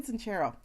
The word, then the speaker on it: Sincero: It's spelled Sincero, but it's like Italian. So like there's a sound.